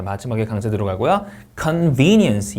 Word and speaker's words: convenience: convenience 이음절 강세입니다.